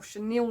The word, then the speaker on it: chenille: underneath then you've got chenille distressing or chenille distressing i get told off saying it wrong it is french it is a french word for caterpillar and it